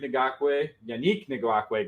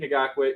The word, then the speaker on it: Ngakoue: I have Yannick Ngakoue. God, I said it wrong. Yannick Ngakoue.